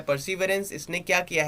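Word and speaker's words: Perseverance: Next है NASA's rover प्रिजर्वेरेंस, हाँ क्या है, परसीवरेंस, नॉट प्रिजर्वेरेंस, क्या है, परसीवरेंस, याद रखिएगा, थोड़ा डिफिकल्ट प्रोनाउंसिएशन है तो आराम से पढ़िएगा।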